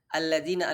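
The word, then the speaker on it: الذين: Alladzina, alif lam syamsiyah. Dzi, maka digigit sedikit lidahnya. Dzi, ladzina an'amta.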